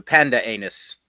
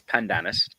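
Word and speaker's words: pandanus: The the panda anus plant. The pandanis plant. Well, it's spelled panda anus, but it's it's it's pandanis.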